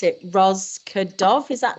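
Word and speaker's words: Rozvadov: I can never pronounce it. Rosvedov, is that right? Rosvedov.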